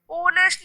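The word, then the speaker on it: honest: पर यहाँ पे अब हम देखते हैं my father is dash ऑनेस्ट person, ऑनेस्ट में किसकी साउंड आ रही है, ओ की, एच जो है वो साइलेंट है तो हम यहाँ पे लिखेंगे एन।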